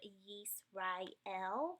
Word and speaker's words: Yisrael: So like in the word Yisrael, that's the word meaning Israel in Hebrew. This yod has a Y sound. It has an I sounding vowel underneath, hence the I.